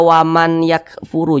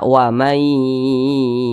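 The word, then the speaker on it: وَمَنْ يَكْفُرْ: yang dimasukkan nah huruf nun ini dimasukkan ke huruf ya jadi dibaca Wai Jangan dibaca waman yakfuru jangan tapi dibaca wamay yakfur nah seperti itu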